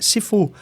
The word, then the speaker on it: sifu: No caso com fu e sifu. Mas se e essa é uma pronúncia do sul da China, do cantonês. Se for em mandarim, a pronúncia da mesma palavra ela muda. Então vira chifu. Shifu.